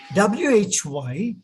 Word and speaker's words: why: y away put finished but in english english w is not produced it's not pronounced like that in english english w h y is y y why why wherever you find w your lips have to come forward like that and it has to